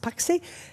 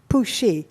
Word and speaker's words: Puxi: This is not pronounced Paxi. Xi in Chinese is pronounced Shi, so this is pronounced Puxi, like Xi'an.